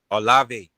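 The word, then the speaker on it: Olave: Chris with Chris O uh Ole how you pronounce it Chris Olive.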